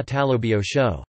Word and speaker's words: তালব্য শ: The voiceless palato-alveolar sibilant phoneme can be written as sa, talabya sa talabio sho, palatal sho, sa murdhanya sa murdhanyo sho, retroflex